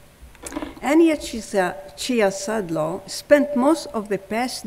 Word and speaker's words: Ciezadlo: Annia, I never asked you how you pronounce the last name. Is it Ciezadlo? That's correct, right? Annia Ciezadlo. Annia Ciezadlo spent most of the past decade living in